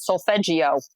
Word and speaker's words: solfeggio: am i pronouncing that correctly correctly is it so fagio so i mean let me say it with a boston accent solfeggio yes so there's a couple that i